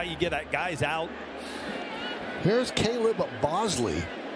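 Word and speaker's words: Caleb Boushley: Here's Caleb Bosley. That's how he pronounces the name. It's spelled quite differently, but Caleb Bosley and he deals outside to Lameu.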